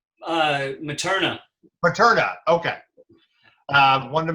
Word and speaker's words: Materna: right and we are talking about the film metro reyna and am i pronouncing that correct uh materna paterna okay uh wanted to make sure we